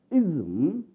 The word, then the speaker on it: ism: And ism, when we have ISM. The letter is S, but we pronounce it Z, ism.